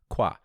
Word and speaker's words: quoi: Not quoi like the last name, but quoi.